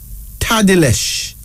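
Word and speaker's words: Tadelesh: This first female name is Tadilesh.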